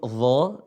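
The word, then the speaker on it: ظ: Ana ingin memperhatikan huruf dha, ya. Bisa dilihat di papan tulis, ya. Huruf dha, ya. Dha, dhi, dhu, badh, ya. Cara bacanya adalah ujung lisan ketemu ujung gigi seri atas. Dha, tapi dibaca tebal.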